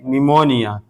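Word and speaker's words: pneumonia: जैसे निमोनिया। निमोनिया। देखिए पी के बाद एन है तो अब यह पी साइलेंट यानी खामोश है। इसको नहीं पढ़ा जाएगा। इसको पढ़ेंगे निमोनिया। इसी तरह लिखा है दूसरा लफ्ज पी के बाद एस।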